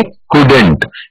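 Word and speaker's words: couldn't: Third word है कुड नॉट, कुड नॉट को हम प्रोनाउंस करेंगे कुडेंट.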